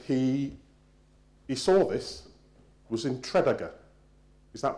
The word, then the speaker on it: Tredegar: to Wales and he saw this, was in Tredegar. Is that pronounced correctly? Yeah, all right, all right. I can get the goch or goch bit, but anyway. Tredegar.